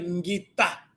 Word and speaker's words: ngina: Essa expressão ngina pode variar, em outras variantes, podem pronunciar em ngita. Ngita zingila. Mas nós aprendemos ngina. Ngina zingila. Se ouvirem alguém a falar de ngita, então não está errado.